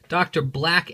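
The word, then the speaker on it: Dr. Black: lucky we have uh Dr Black and thundra I would like to point out that that says Dr black with a B I've had so many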